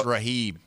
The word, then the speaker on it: Raghib: The G's silent. It's Raghib. It's Raghib. It is Raghib? Yes, Raghib. I've been mispronounced for 30 years.